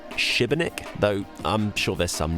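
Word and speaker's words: Šibenik: journey is this uh the accent above the s means that you've sort of got to pronounce it Shiba Nick though I'm sure there's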